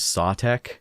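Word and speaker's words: Sautekh: I've also gotta say, I've always pronounced it as Sutek, but I hear people also pronouncing it as Sawtek, which, I don't know, I like Sutek more, so I'm just gonna say Sutek for the sake of consistency.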